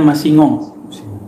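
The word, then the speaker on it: Massignon: Nah, antum silakan cari buku, kalau tulisan kita Masik Non, bacanya Masingong. Songong.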